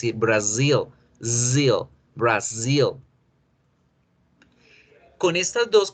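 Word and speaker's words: Brazil: s en español brasil en inglés con z por lo tanto debo generar ese sonido lasser brasil rio brasil con estas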